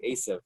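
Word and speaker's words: עשו: and he was saying Esav, but the ayin of Esav is very hard to pronounce because you have to say it from the ayin.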